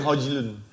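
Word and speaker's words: Højlund: Bacanya Hojlun.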